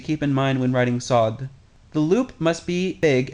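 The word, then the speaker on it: صاد: This letter represents the emphatic counterpart or the emphatic version of scene. This and other emphatic consonants deepen the sound of the surrounding vowels, most notably al if and fata. Pay attention to the sounds of all vowels near these emphatic letters because the quality of the vowels gives the clearest indication of the emphatic consonants.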